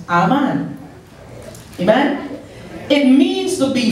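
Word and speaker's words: אמן: amen it's spelled a m a n it's pronounced amen amen it means to be firm stable established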